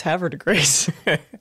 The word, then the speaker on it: Havre de Grace: On the pronunciation of Havre de Grace. Oh, no, it's Havre de Grace.